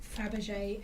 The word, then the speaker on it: Fabergé: Because this one was very much like Fabergé egg inspired. And there was a lot of very dramatic Fabergé eggs. Fabergé? Fabergé. Fabergé. Not fra. Fab. Fab. Like the ice cream. Fabergé.